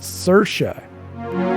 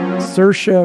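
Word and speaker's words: Saoirse: talk show and they asked her how to pronounce her name and she said cersa cersa Ronin so apparently s a o i RS e is pronounced cersa and she's really pretty as well oh yeah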